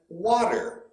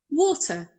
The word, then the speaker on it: water: common and that is water water did you hear that guy he doesn't pronounce the r she makes it a